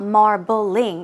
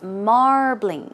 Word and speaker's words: marbling: meat right so marbling keep in mind it's two syllables it's not marbling its marbling marbling once again marbling